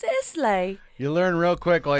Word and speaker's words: Islay: Which a lot of people pronounce Isle of Islay.